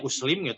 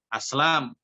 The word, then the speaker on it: Aslam: nih kalau ada tulisan Antum bacanya Uslim itu parah sekali bahasa Arabnya Aslam atuh sih kau ketakutan